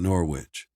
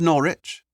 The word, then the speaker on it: Norwich: I have some business to attend to in Norwich." He pronounced the name of the city in two distinct syllables. the second rhyming with which "It's called Norwich," Father Martin replied with a slight smile. "Rimes with porridge."